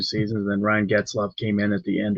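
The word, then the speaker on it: Getzlaf: Am I pronouncing that correctly? And Ryan Getzloff. Yeah, it's Getzloff.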